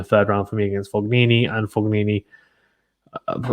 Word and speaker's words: Fognini: just kind of haphazardly going through it uh foglini puppets uh pos pistol even what i see people say per pistol don't they isn't it possibility it's how it's spelled you know sorry uh fognini i think it's coming about sangria nevashka either